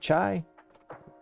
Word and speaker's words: chi: over to uh chi chai now let's ask a question let's see let's see yeah chai not chia oh foreign Greek alphabet